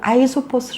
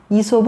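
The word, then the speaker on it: 아이소포스: 떤 이소 다른 이름으로 아예 소 포스 라고도 하죠 그는 어떤 사람이었나 아예 소 포스는 고대 그래스 시계 발음이 고 이솝 은 영어식으로 현대화된 이름입니다 풀이 기아 인인 이솝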